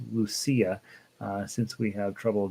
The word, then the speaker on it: Lucia: years how to pronounce lucia uh since we have trouble deciding in spanish it would be lucia but in italian it's lucia okay good little song